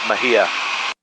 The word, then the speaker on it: Mexia: That guy said Mexia, I believe. I believe they call it Mahia here. Texans pronounce everything different down here.